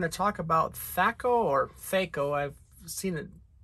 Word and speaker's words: THAC0: talk about fako or feiko i've seen it apparently it's pronounced both ways i always heard it pronounced thako but uh let's just